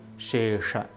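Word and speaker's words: निःशेष: One also needs to be careful while pronouncing the word Nihshesha. The first sound is Sha, made with the help of the tongue and the palate, while the second sound is Sha, made with the help of the jaw. It is Shesha.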